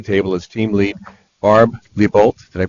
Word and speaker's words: Leibold: her at the table is team lead Barb Leibold. Did I pronounce that correctly? Leibold, thank you.